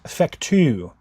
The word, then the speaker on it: Fecteau: We are back at it again with a May 20th Supreme Court opinion, Libby versus Fecteau. F-E-C-T-E-A-U, Fecteau, I think is how you say that.